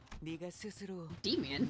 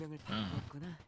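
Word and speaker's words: Demian: Demonian. Damian. Damian. Damian. Yeah, the E is pronounced an A.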